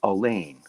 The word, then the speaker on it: Allain: alicia correct correct correct i believe the pronunciation of your last name is elaine it is so if you're a